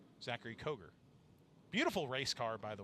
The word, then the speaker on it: Koger: Everybody says Kogar because it's spelled that way, but it's Koger.